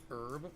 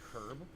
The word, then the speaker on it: herb: ganja bro it's because in the United States we pronounce it herb we don't pronounce the h i know in Great Britain they do say herb but I just say